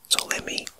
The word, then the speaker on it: Ptolemy: is spelled Ptolemy, and perhaps the P is silent, so it could be Ptolemy.